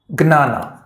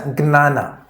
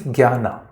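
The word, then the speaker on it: jñāna: Brahma, as I said earlier, it is about the Supreme Being plus Gnana. This is J, but it is pronounced as Gnana. I think this should help. In Hindi, this means Jnana, Gyan.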